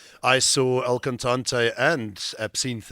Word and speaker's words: Absinthe: For instance, I saw El Cantante and Absinthe, as you pronounce it. Apparently, it's not Absinthe.